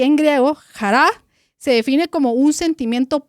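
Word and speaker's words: χαρά: Pero hoy refrescando acá algunos de los conceptos básicos es que gozo en hebreo que se pronuncia simcha y en griego jará se define como un sentimiento profundo de alegría y paz interior que proviene de Dios.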